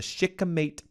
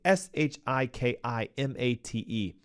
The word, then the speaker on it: shikimate: Okay, we know it is a major gut microbiome disruptor because glyphosate chemically disrupts the shikimate pathway, Shikimate. Some of you may say, you're not pronouncing it right.